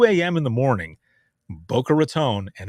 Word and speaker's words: Raton: say that again it's it's raton not rattan i was like all